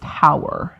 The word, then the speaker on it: Hauer: Rachel's name is pronounced Hauer. Hauer. Okay, cool. Probably not whore.